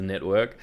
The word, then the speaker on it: NetVRK: It's not Netvrk, it is Netvrk.